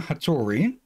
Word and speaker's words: Hattori: Her first task is to locate Agent Isuma Hattori, who will provide further information on her assignment. You butchered what?